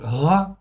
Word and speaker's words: רע: je crois que c'est bon là ok donc RA en fait ici ça se prononce RA en fait ici là on est